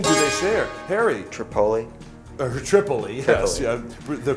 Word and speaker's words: Tripoli: Tripoli, yes, yeah, the correct pronunciation.